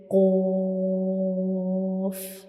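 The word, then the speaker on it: ق: And when we pronounce qaf, the very back part of the tongue touches the soft palate.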